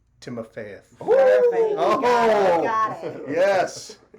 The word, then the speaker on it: Timofeyev: Timofeyev.